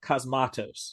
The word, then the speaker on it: Cosmatos: Cosmatos. Oh, Cosmatos.